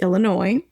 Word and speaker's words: Illinois: And you'll notice there's an S at the end of Illinois, but we don't pronounce it. It's Illinois, Wisconsin, Minnesota, Iowa, Missouri.